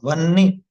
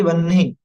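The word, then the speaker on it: वह्नि: में एक की मात्रा वनी ना कि वन्ही बहुत से लोग इसको वन्ही बोलते हैं वो गलत है मैं पहले इसलिए सचेत कर रहा हूं ताकि आप लोग उच्चारण पर ध्यान वनी ठीक है ना वनी अगर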